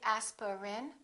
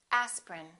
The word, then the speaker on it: aspirin: a list of words each one of these words contains one vowel one syllable which is not pronounced look at these words and repeat after me aspirin don't say aspirin say aspirin evening evening family family